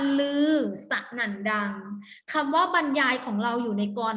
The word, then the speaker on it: บรรยาย: ยาย เด็ก ๆ ขา เวลา Reading เรา จะ อ่าน ว่า บรรยาย โอเค ไหม คำ ว่า